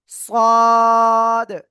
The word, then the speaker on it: ص: সদ। জিহ্বার আগা, সামনে নিচে দুই দাঁতের পেট ও আগার সাথে লাগাবেন, লাগিয়ে 4 আলিফ টানিয়ে আপনি এই অক্ষরটা উচ্চারণ করবেন।